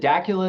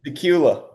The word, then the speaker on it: Dacula: Like they they're all back from is it Dacula? Is that how you say Dula? Dula. Dula. Dula. Okay. Not many people get it right.